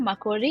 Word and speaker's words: Makori: to be here um my name is McCory you pronounced it very well and I am from